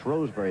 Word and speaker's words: Shrewsbury: As far as citizenship is concerned, he was born in Shrewsbury, as they pronounce it over here, in Shropshire.